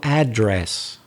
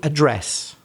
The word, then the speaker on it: address: somewhere in the middle so american might say something like what's your new address and a british person might say what's your new address so it's the british who break the rule for that word we both agree that the verb has stress on the second part the second syllable we don't have any